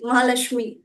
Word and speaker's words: Mahalashmi: Yes, So, it's without K. My name is without K. Mahalashmi.